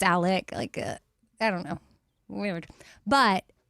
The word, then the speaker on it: Alex: And then his name is spelled like Alex, but it's Alec.